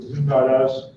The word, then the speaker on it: Zoom.us: You can get a personal account by going to that's the way the company pronounces it, Zoom.us.